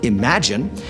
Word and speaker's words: Im4gn: which are the im4gn which is pronounced imagine and the is4gen which